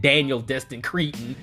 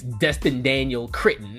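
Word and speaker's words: Destin Daniel Cretton: got his name wrong I said Daniel Destin Creighton it's Dustin Daniel critten that's his name you know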